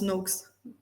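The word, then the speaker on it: Noakes: connais le nutrition network non non tu connais le professeur Tim no ça me dit quelque chose de NO NO mais en fait ça se prononce NOx et en fait lui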